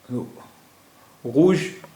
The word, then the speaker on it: rouge: रूज मुज़क्कर और मुअन्नस दोनों में एक ही रहता है, वाहिद मुज़क्कर और वाहिद मुअन्नस दोनों की स्पेलिंग एक ही है।